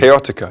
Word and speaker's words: Chaotica: i'm pronouncing that correctly chaotica yeah oh chaotic duh chaotica what can you tell